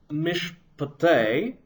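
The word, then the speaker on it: מִשְׁפְּטֵי: Similarly, in Mishpatei, the first Shewa under the shin is silent. The second Shewa will be vocal.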